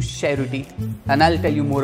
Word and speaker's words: Cerruti: this famous Brand's pronunciation just changed from cherot to Sher and I'll tell you